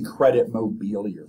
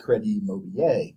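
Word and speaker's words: Crédit Mobilier: scandal sometimes also called credit mobile this was an american company but named after a french bank and so you can pronounce it the american way or the french way and some people call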